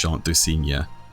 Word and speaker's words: Chant du Cygne: The main thing I'd like new players especially to take away from this section is to not mash Chant du Cygne. Yes, that is actually how you pronounce it, and not mash it over and over.